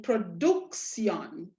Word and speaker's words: production: to last syllable so by right we should be stressing over here we should be saying production production we should be putting the stress on the duke but what do we